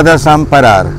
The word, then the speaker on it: desemparar: Sa scrivo desemparar e sa pronuncia da zamparar.